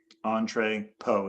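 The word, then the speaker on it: entrepôt: Entrepot. Entrepot is how you pronounce it.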